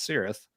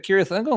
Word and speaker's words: Cirith Ungol: no it's uh yeah the band does pronounce it with the Soft C Sound and it's their band